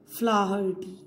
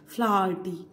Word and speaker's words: Flaherty: Liam, the pronunciation of his name is Liam O Flaherty. H is also pronounced here. Flaherty.